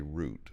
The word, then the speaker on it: route: so what's the correct pronunciation of the word r-o-u-t-e because I tend to use route although when there's a number behind it I'll frequently say root like root 66 route 61.